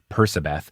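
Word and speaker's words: Percabeth: you for correcting me i will start saying persabeth i'm glad that that's what you said for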